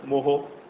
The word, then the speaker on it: mho: तो रेजिस्टेंस का यूनिट जैसे हमें पता है ओहम है, उसके स्पेलिंग क्या है? OHM। तो कंडक्टेंस रेजिस्टेंस का उलट है, तो इसका रेसिप्रोकल है। तो उसके लिए हमने क्या किया है? इसको कैसे रिप्रेजेंट किया है? इसके स्पेलिंग्स को इंटरचेंज कर दिया है। MHO, मोहो।